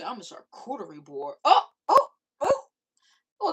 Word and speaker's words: charcuterie: You say, I'm a charcuterie board.